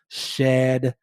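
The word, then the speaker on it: Shadd: a woman by the name of mary ann shad kerry shad is spelled s-h-a-d-d mary ann shad carrie lived from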